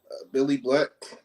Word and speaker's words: Bill Li Black: little bit about yourself and where you from billy black from owensburg south carolina spelled billy black but pronounced billy it was just like 30 [